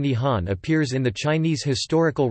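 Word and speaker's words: 日本: The Japanese word for Japan is Re-ben, which is pronounced Nihon or Nippon and literally means the origin of the sun.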